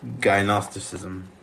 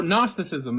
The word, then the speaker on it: gnosticism: me show you um diagnosticism oh gnosticism it's a silent G yeah my bad I mispronounce it I think yeah so